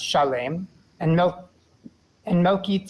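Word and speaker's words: שָׁלֵם: and king of Chalet we're not going to pronounce it Salem because it's pronounced Chalet and milk and mokit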